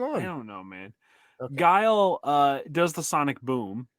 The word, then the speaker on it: Guile: it right this time guile guile why do I want to keep calling him gal all the time last one what's going on I don't know man guile uh does the sonic